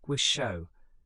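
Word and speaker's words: Taishō: The Taiisho period pronounced guisho spanning from 1912 to 1926 brought a brief flowering of democratic politics and cultural experimentation.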